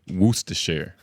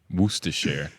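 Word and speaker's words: Worcestershire: wer wer sh sauce forget about the cess syllable let me see where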